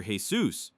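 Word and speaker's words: Jesús: Suz is short for Jesus, pronounced the Spanish way.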